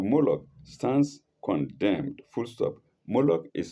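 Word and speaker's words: Moloch: Moolok is spelled M O L O C H.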